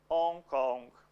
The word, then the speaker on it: Hong Kong: Em português, o H não tem som no começo da palavra. So, Hong Kong, Hong Kong. No sound at the beginning of the word.